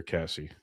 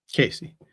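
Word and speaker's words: Caissie: They've actually said things and I might mispronounce the last name, so please correct me, but Owen, is it Casey or Cassie? Casey. Casey.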